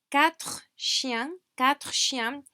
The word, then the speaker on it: quatre chiens: Now, quatre chiens. This R sound, we do pronounce it.